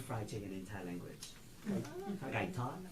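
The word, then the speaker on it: Gai Tod: Gai Tot, T-O-D, Gai Tot. Like, Kai and then Todd. yeah. Kai Tot.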